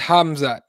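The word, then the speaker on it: Khamzat: the the correction here they don't pronounce the k it's pronounced hamza like habib got it ah hamza okay there you go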